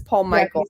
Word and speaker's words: Paul Michael: pavilion of really upscale, I always say his name wrong, Paul Michael. I always get that and the shampoo mixed up. I think Paul Mitchell is the shampoo. This is Paul Michael.